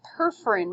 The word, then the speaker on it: perforin: So it was perforin? How do you spell that? Perforin. P-E-R-F-O-R-I-N. As in perforate.